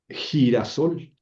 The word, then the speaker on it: girasol: Este, por ejemplo, eh, girasol. Girasol se pronuncia con J, pero se escribe con G, ¿no?